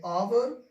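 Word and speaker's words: hour: ठीक है, इसको पढ़ेंगे ऑनेस्ट, इसको पढ़ेंगे ऑवर, इसको पढ़ेंगे गोस्ट, इसको पढ़ेंगे ऑनर।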